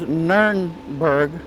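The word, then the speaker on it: Nürnberg: around here's a map of the city of nurburg or is it's pronounced in most places nernberg like it is here north of the river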